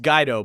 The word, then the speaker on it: Guido: It's pronounced Guido, but everybody up here says Guido, so I've just kind of accepted that at this point.